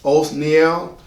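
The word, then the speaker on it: Othniel: right after the death of Joshua his name is spelled o t h n i e l o Neel the last judge to rule is going to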